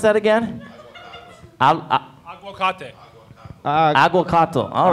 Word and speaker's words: aguacate: How do you pronounce that again? Aguacate.